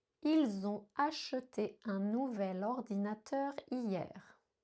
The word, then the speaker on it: ils ont: Donc ici, ils ont acheté est la bonne forme prononcée avec la liaison ils ont.